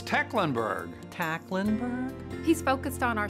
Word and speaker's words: Tecklenburg: How do you say his name? It's Tecklenburg. Tecklenburg? He's focused on our city. Tinkleberg.